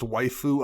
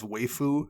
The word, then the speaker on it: waifu: probably wrong i i got made fun of this week on the edh rex stream for pronouncing what's pronounced waifu i guess as waefu so you know what